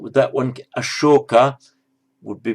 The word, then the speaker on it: Ashoka: King Ashoka, spelled with that one, Ashoka, would be pronounced as Asoka in Pali.